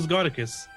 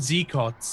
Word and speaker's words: Scoticus: I get Z-cots a lot, a whole lot, and it's just because people aren't used to seeing the Z next to another consonant. Really, they're like, "What?